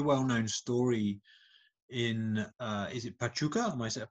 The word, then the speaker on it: Pachuca: And listen, I mean, this is presumably, as you said, it was a very well-known story in, is it Pachuca? How do you say it? Yes, Pachuca, yeah.